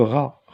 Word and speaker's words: rat: Le rat, on ne prononce pas T.